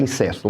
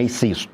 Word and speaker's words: incesto: Eu tenho a impressão que a pronúncia correta é incesto, não é incisto, né?